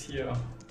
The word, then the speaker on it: Rio: yeah you don't yeah they don't pronounce the RS B Brazilian Portuguese speakers B yeah yeah so it's not Rio it's hio hi hioo that's interesting